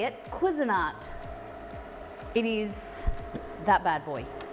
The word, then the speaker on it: Cuisinart: cuisinart i got taught how to say it cuisinart it is that bad boy oh look guys